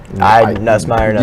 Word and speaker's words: Nussmeier: Well, in Nussmeier, is that how you guys pronounce? Nussmeier.